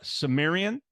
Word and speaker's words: Cimmerian: Unified School District graduate the Sumerian exactly yeah yeah right it rhymes with Barbarian the Sumerian Conan ish